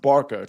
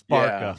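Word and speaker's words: Barça: a bit of a preview, but also he pronounced Barca wrong. I believe it's pronounced Barca, correct? Yeah, that was uncomfortable for all of us. It's Barca, yeah.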